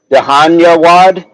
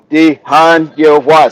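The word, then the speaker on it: धन्यवाद: Wad, Jan, Dahanyawad, Dahanyawad. I'm breaking it down right. It's like first day of pre-K, man. Dahanyawad.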